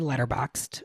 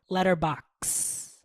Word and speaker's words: Letterboxd: Letterboxd. Oh, and there's no E? No, the E is silent.